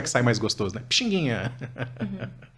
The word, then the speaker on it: Pixinguinha: de pronunciar aqui né pizindim foi abrasileirando facilitando a pronúncia no povo para Pixinguinha né olha só como é que sai mais gostoso né Pixinguinha o menino bom curtidinha